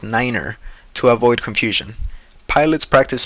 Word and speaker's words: niner: For instance, the number three is pronounced as tree and nine is pronounced as niner.